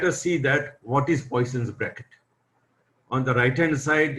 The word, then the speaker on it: Poisson: In English, we call as Poisson, but in French, the people call Poisson. But that pronunciation is different, and we stick to the original pronunciation, Poisson, because if we call Poisson, people will not recognize that about whom we are talking.